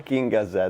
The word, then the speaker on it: Bakinga Z: Sorry? Bakinga Z. Bakinga Z.